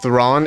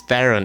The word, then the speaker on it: Charlize Theron: film uh starring charlize thrawn everybody calls her charlize theron it's thrawn yeah charlie's the ron that's